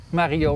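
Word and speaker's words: Marillaux: De 2 L'en spreek je niet uit. Nee, ik spreek uit dus een J.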